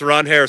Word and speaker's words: Ranger: Sox, he's facing, you might know him as Ranger. Apparently, his name is pronounced Ronair Suarez, left-handed pitcher who signed a 5-year, $130